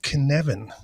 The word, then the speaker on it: Cynefin: in in time so it's called kinevin if you read the episode title you probably did not expect that to be the way it